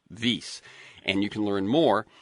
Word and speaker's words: Wyss: He's founding director of Harvard's V Institute for Biologically Inspired Engineering. And that is a a Swiss proper name. So it is spelled wys vase.